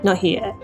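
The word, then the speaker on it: 나의: Also, I've noticed that whenever the syllable is used specifically in this context, it usually relaxes into more of an e or ye sound, so nahi-e.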